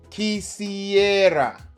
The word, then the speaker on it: quisiera: Quick pronunciation note. Quisiera. Don't overthink the R. It's not a dramatic roll, it's just a soft tap above your two front teeth.